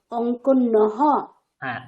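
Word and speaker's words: অঙ্কন্যঃ: অঙ্কনী, অঙ্কনী অঙ্কনৌ অঙ্কন্যः। হ্যাঁ, অঙ্কনী, অঙ্কন্যৌ, উচ্চারণ হলো না। অঙ্কনী, মদ্দা, তাহলে এটা হবে অঙ্কন্যাহ। হ্যাঁ দেখুন আমি লিখে দিচ্ছি।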